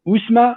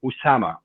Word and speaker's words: Usama: what's your name and i'll say osama and they would say usma i said no no usama and so it was